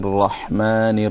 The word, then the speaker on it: الرحمن: So in both places you have to pronounce the ha in Rahman and the ha in Rahim. So the first ha is with a sukoon, Rahman, and the second one is with a kasra underneath, with a, or what we call a zair underneath, Rahim.